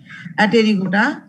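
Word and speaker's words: Apterygota: আবার উচ্চারণটা কিন্তু অ্যাপটেরিগোটা বলো না, হ্যাঁ, পি এর উচ্চারণটা কিন্তু সাইলেন্ট এখানে, এ পি আর ওয়াই জি ও টি এ, অ্যাটেরিগোটা মানে এ মানে অ্যাবসেন্ট, টেরন মানে পাখা, তাহলে অ্যাটেরিগোটা হলো পাখা অ্যাবসেন্ট।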